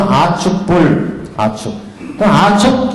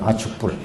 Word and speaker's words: 아축불: 그 두 삼위는 동방에서 성불하였으니 첫째 이름은 아축불, 아축이라고도 합니다. 아축불. 축이라고도 발음하고 촉이라고도 발음하고 아축불이라 한의국에 계시고 둘째 이름은 수미정이며 그러니까 동방인데 동방의 두 불이요.